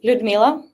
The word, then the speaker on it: Ludmila: Well, it's Ludmila. Thank you for pronunciation.